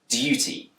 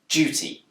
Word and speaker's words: duty: with a D sound duty but it's also commonly pronounced with a J sound duty this change from dear